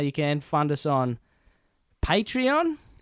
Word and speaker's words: Patreon: can find us on patreon I've been pronouncing it wrong for the first couple of episodes but as patreon you can support us